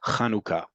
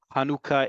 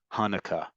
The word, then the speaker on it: Hanukkah: and their names correctly it is kanuka however you want to transliterate it is fine if you can't say that's fine hanuka is perfectly all right but it is not it is not and you know me well enough that I don't put my foot down very much in these classes this is this holiday is not pronounced Hanukah unless you're trying to make a joke okay so our letters